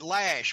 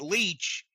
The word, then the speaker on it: Loesch: And I know people have said they pronounce it Lash, but actually some people have said they ought to pronounce it Leech. So I'm going to pronounce it like they spell it.